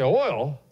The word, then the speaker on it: oil: the missing earlier say oil uh-oh so what it sounds like Oh amen just one syllable Oh oil oh this